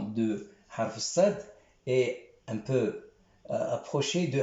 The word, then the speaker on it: صاد: On pose notre langue sur les dents, on dit sin, mais sad, on pose notre langue en haut de la mâchoire supérieure.